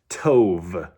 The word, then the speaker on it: Tov: Um, so the Hebrew word for good is to and I'm really hitting the the V sound at the end there just to kind of make it easier to hear because it's kind of hard to differentiate.